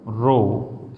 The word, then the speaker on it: rho: है, R equal to रो L/A। क्या pronunciation है इसका, RHO, रो, ठीक। Where रो इज the resistivity,